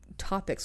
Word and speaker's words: Topix: now defunct discussion board topics was, I think I vaguely remember that discussion board. Topics. Yeah, do you remember that discussion board? Maybe. It's spelled TOPIX, like kid pics.